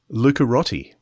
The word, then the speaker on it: Lucarotti: that appears John lucaretti he said how you pronounce his name Luca Rottie lucarotti so I apologies for